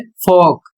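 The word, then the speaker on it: folk: दूसरा जो नियम है इसमें लिखा है ओ एल के बाद जब के आता है तो एल साइलेंट हो जाता है या एल साइलेंट रहता है जैसे एफ ओ एल के और इसका उच्चारण होता है फोक और इसका अर्थ होता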